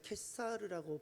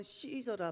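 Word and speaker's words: Caesar: 있습니다 가이사는 누구고 무엇이죠 라틴어 로마에서는 가이사를 캐사르라고 발음합니다 그것을 영어로는 시저라 발음하고 성경에는 그것을 가이사라고 표현하고 있습니다 캣살을 시저 가이사가 다 같은 표현입니다 가이사는 로마 통치권자의 수장입니다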